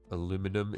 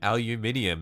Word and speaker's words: aluminium: Army life is good nice aluminum it's Latin you Barbarian aluminium it's English you freak do you speak